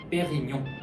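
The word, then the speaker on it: Dom Pérignon: 이거 같은 경우에도 이제 저도 가끔 들어보면은 놈으로 발음하시는 분들이 많은데 얘 같은 경우에도 놈이 아니라 프랑스로는 농이 들어가는 순간 프랑스에서 이제 웅 발음이 되는게 맞기 때문에 빼용 요렇게 발음하시는게 올바른 발음이죠.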